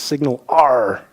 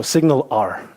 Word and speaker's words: SignalR: make sure you know how to pronounce it it's signal are like the Pirates so signal are if you want to